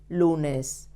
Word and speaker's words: lunes: El lunes. It ends in S. So we have to stress the penultimate syllable.